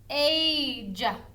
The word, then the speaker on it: age: about ice and age do you hear the e do we say e at the end of the word we don't that e is a silent e we don't hear it age but did you hear a saying its name ice i said its name because that silent e is telling that vowel hey say your name age age age age age there we go i guess it'd be